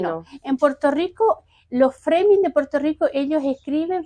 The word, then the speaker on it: Frömming: El el apellido Froming también es alemán un poquito cómo es el el origen conis en la O. Sí. Ah, no sé. Se pronuncia froming así. Freming.